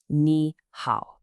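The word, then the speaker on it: 你好: Ni hao. Literally, it means you good, but we all know it as hello. Just 2 simple syllables, ni and hao, both with that falling then rising tone.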